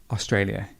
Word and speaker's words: Australia: So, Australia, not Australia. Australia. He's an Australian citizen. Australian. And the stress would be alien. Australian. Good.